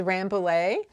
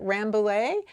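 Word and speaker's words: Rambouillet: week's breed which is rambolay rambollae that is it's a it's also known as french merino and obviously the french do not pronounce it ramblae that is absolutely the american pronunciation of this breed if you live in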